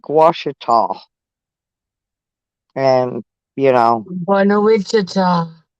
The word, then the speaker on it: Ouachita: cheetah I'm gonna show you c-h-i-t-a Google Maps pronounces it orchida that's so funny I know it's pronounced Ouachita I've been to Lake Michigan but I never